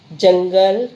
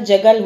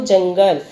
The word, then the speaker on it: जंगल: हमने जंग, ऐसा उच्चारण, अगर अनुस्वार को हटा देंगे तो जगल हो जाएगा, लेकिन क्या बोलेंगे इसको, जंगल, तो ये अनुस्वार यहाँ पे लगा हुआ है तो इसको बोलेंगे जंगल, शेर जंगल का राजा